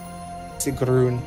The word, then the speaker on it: Sigrun: Sigrun would be the actual pronunciation.